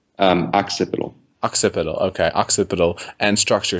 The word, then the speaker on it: Occipital: Occipital.